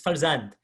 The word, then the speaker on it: farzand: I'm saying this in the Persian pronunciation. It's farzand in Persian. We can see there's an F to P shift in the pronunciation.